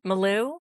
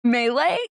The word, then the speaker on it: melee: Maloo. Melee.